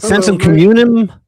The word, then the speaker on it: Sensum Communem: Is it Sensum Communem? Or how do you say it? It's right. Communem, yeah.